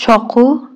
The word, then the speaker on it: چاقو: دوا دوای دوا دوای چاقو چاکو چاکو چاکو چاکو چاکو قاف تلفظ نمیکنن کاف تلفظ میکنن دوقلوها جرو جرو خب